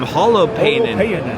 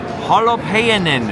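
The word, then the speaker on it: Holopainen: Holopin. Holo Panin. In Finnish, the accent's always on the first syllable.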